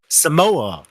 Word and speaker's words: Samoa: China right is that how you say itamo Samoa Samoa okay can lift up five China all